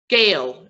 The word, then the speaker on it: Gail: than the other like my name gail it's one syllable okay that's right very